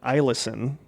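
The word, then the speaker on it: Eielson: force and stationed in ilsen thank you for your service yeah she says it looks like ellison but she said the first e is pronounced as an i so i listen back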